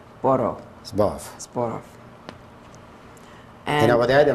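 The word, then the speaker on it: Zborów: Could you spell that, please? Z, like a zebra, B, O, R, O, W. Borov. Zborov.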